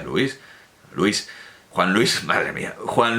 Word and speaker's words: Luis: como si la necesitara como si no fuera un monosílabo y como si se pronunciara Luis que no se pronuncia Luis Luis Juan Luis madre mía